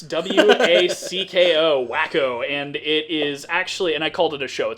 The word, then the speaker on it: Wacko: uh in the future so the show's called wacko okay it's pronounced waco commons no it's w-a-c-k-o wacko and it is actually and i called